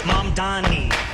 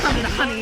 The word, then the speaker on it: Mamdani: The name is Mamdani. M-A-M-D-A. The name is Mamdani, and we should all learn how to say it because he is officially the next mayor of New York City.